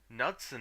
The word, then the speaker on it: Knudsen: Knudsen.